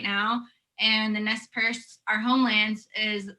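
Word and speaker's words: Nez Perce: the relationship between the tribes and how to pronounce all of them yeah so the tribes are umatilla cayuse and nest purse um currently right now they're kind of like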